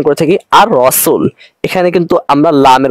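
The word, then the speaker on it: الرسول: পরবর্তী হরফকে তাফসীর দিয়ে পড়তে হবে যেমন আমরা উচ্চারণ করে থাকি আর রাসুল এখানে কিন্তু আমরা লামের উচ্চারণ করি না কিন্তু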